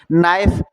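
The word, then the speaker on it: knife: नाइफ। आपको पता है नाइफ में तो के साइलेंट है और फिर हमारा नाइफ लिख जाएगा वॉक।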